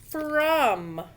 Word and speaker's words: from: Okay, so the first one I want to look at is from. Like, who is that from? F-R-O-M. It looks like from, but it says from. Sounds like a U there, doesn't it?